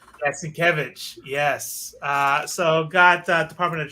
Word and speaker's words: Sienkiewicz: Sienkiewicz? Yeah, Sienkiewicz.